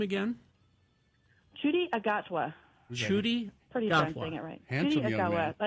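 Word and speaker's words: Ncuti Gatwa: Chudi Agatwa.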